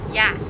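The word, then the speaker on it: Yass: No, how do you pronounce it again? Yas.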